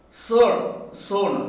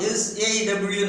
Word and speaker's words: sow: See, so, sown, not SAW, not saw. It should be pronounced as its pronunciation is so.